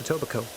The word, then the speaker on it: Etobicoke: that's true uh uh the only word that i know that has a silent k in the like mid like at the end of it yeah but pronounced etobicoke very interesting all right ontario